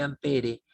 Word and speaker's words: ampere: mide en amper y se escribe ampere y se pronuncia amper siguiente ejercicio con una